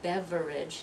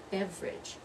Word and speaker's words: beverage: your may order a not a beverage not three syllables only two syllables a beverage beverage you're not going to